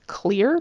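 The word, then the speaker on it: Xlear: be pretty great the brand name is is pronounced clear but it's spelled XLE e a r not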